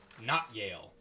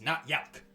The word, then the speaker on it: Notyalc: Ale and his little gremlin sidekick, Not Yale. Uh-huh. Excuse me, I mispronounced that because I read my notes incorrectly. It's Not Yalk.